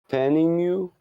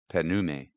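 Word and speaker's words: Penemue: I've been pronouncing that Penume.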